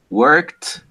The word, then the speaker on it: worked: No, it's d, t, id. Right? It's going to be cleaned, worked, wanted.